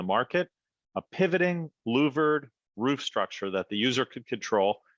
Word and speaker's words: StruXure: and chief product architect of structure that's spelled s-t-r-u-x-u-r-e founded in 2011 Scott had simply